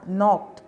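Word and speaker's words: knock: पर खटखटाया नॉर्थ खटखटाया नोक पर यहां पर साइलेंट रहता है नोक पर नेक्स्ट जोर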